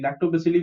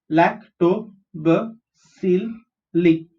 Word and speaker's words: lactobacilli: Lactobacilli we've already seen. The pronunciation is LAC, lact, TO is to, BA is b, CIL is sil, LI is li. Lactobacilli.